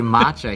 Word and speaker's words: matcha: getting a mocha cake because he didn't say matcha he said moja and the person so he